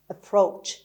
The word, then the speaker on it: approach: خب همونطور که دارید میشنوید ای اول به شکل شوا تلفظ میشه approach و استرس روی پی هست. در واقع اینجا که ما دابل پی داریم دومین پ و ر کنار هم تلفظ میشه و از اونجا ما محکم تر میگیم approach.